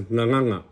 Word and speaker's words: gagana: So instead of ngangana, you'll hear it as nganganga.